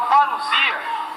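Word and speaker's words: παρουσία: A palavra parousia, que se pronuncia parousia.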